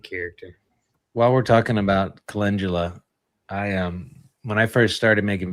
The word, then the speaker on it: calendula: commonly mispronouncing things, and I called calendula calendula, and I can't tell you Calendula. how many people ripped me a new one over saying it that way.